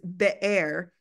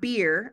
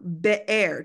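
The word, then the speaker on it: באר: the closest definition the Hebrew word is beair not beer I said in the email beair two syllables and the closest thing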